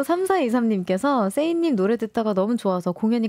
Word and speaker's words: SAAY: 근데 이제, 원래 세이, 그러니까 그냥 시옷자 발음, 그냥 세이로 이제 말하다라는 걸 쓰다가 아티스트로 이제 솔로 앨범을 준비하고 전향을 하면서 이걸 좀 더 발전시켜야겠다. 그래서 A를 하나 더 넣어서 더블 A, 약간 A 플러스 느낌으로.